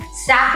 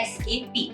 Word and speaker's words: SAP: पहले तो वो सैप नहीं होता है, बहुत लोग उसको सैप प्रोनाउंस करते हैं, लेकिन वो सैप नहीं होता है, वो होता है एसएपी।